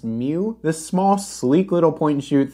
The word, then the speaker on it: mju: seen is said that it's pronounced mew this small sleek little